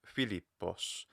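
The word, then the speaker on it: Φίλιππος: So like Filipos. The reason that fi is an accented pitch accented high mora syllable is because the one after it is lower.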